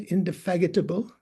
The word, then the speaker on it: indefatigable: Did I pronounce that right? Indefatigable?